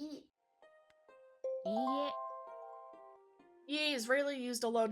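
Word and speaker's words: いいえ: In EA, the two E characters together create a long E vowel. EA Tanaka dewa arimasen. いいえ。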